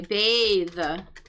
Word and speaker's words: bath: As opposed to the noun, the bath tub, or we might say to take a bath. The unvoiced TH.